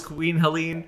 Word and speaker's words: Queen Helene: No, I actually know it was Queen Helene, but I didn't want to say that, and then you guys have not heard it pronounced that way.